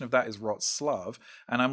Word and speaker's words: Wrocław: It's spelled WROCLAW. I'm like, Wrocław, and I'm like, nope, the pronunciation of that is Wrocław, and I'm like, it looks nothing like that.